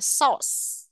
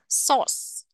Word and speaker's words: sauce: này nè gọi là source Các bạn nhớ phát âm S ở cuối cho cô nhé cái đuôi CE này đọc thành âm S nè source source source tháng 8 August August